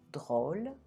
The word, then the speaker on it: drôle: So unless the word is only one syllable long, E will always be silent when it's at the end of the word. Let's do some example. Ami, drôle.